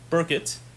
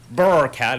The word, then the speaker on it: Burkitt: about mr andrew burkett burkitt is how it's pronounced burr cat is what lauren calls him because lauren can't get any